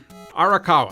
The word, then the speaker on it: Arakawa: gonna try to do this without up names arakawa I said it right Phillips managed one of